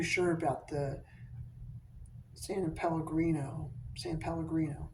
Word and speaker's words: San Pellegrino: San Pellegrino. That's how you pronounce it. Yeah. I always want to put an extra Santa Pellegrino. It's not. It's San Pellegrino.